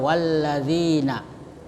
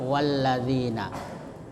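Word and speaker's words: وَالَّذِينَ: Cara membacanya dengan mengidegamkan atau mentasdidkan pada huruf lam dan huruf nun. Ya, contoh walladzina ya walladzina. Jadi mengindamkan huruf lam atau mentasdidkan.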